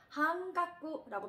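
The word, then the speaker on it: はんがく: 라고 할 때는 한깍구라고 발음하시면 되겠습니다.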